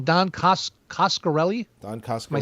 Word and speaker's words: Coscarelli: This one is Coscarelli. It's pronounced as it's spelled.